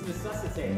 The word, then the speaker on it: necessitate: It's necessitate. Necessitate. You're missing a whole syllable in it.